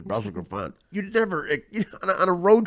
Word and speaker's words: Brussels Griffon: And if a straight guy hears somebody, even if they know that the real way to pronounce Brussels Griffin is Brussels Griffon, you never, on a